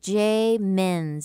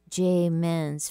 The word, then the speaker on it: Muenz: We're talking today with Jay Menz, and that's spelled M-U-E-N-Z. Jay Menz, fitness coach and a lovely gifts activator.